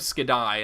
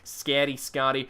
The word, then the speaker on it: Skadi: I always want to say Eye of Skadi, and I know that's a weird way to pronounce it, so Skadi.